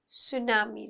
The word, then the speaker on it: tsunami: one is a tsunami it's a tsunami the tea is silent is a train of